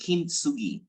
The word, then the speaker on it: kintsugi: Not sure I can pronounce it well, but I'm seeing it. Yeah, man. So that would be kintsugi.